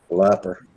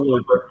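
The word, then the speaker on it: Luper: Nah, it's spelled with a U. Oh. Looper. Tom Looper.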